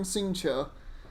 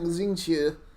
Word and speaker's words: Xingqiu: it's Singcho. Okay, I've never pronounced his name like that. I'm going to start saying Singcho. Because I've always been saying Xingqiu.